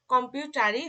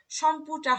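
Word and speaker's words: Computer: ইংরেজি ওয়ার্ড, তো ইংরেজি ওয়ার্ড হওয়ার কারণে এটার উচ্চারণটা আমাদের ইংরেজি হবে, অর্থাৎ কম্পিউটারই হবে, এটা কিন্তু সম্পুটা হবে না, ঠিক আছে।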